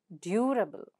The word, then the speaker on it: durable: word is durable and the syllables are due, ra, and bull. So able comes here, and the syllable that precedes the suffix is due. So you stress on due. So it's durable, durable.